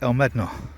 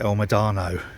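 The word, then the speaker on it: El Médano: islands on turner reef called el medano except he pronounces it el madano you know you can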